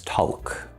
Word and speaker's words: talk: So many English learners try to pronounce this talk. There's no L there.